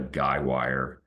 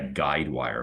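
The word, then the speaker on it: guy wire: is a called a guywire um I think I sometime called that a guide wire but I guess guywire is the correct way to say it uh you know something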